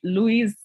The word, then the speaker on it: Loise: So Loise, Yes. thank you very much. Am I Thank pronouncing you. it correct? Loise, is it okay? It's Lois, but Loise, most Loise. people say Louise.